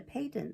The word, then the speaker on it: phaeton: I looked it out in the dick, and you mustn't call it a phaeton, though it is spelled with a P, added Bab, who liked